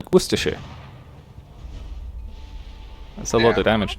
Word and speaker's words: Worcestershire: know i don't know how do you know when it's shire and when it's sure uh generally you say it wrong and somebody will correct you uh like for instance if you say what's this chester shear then um i'm british and i'll correct you to like worcestershire that's a